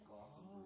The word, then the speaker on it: Glastonbury: You mispronounced it. It's Glastonbury.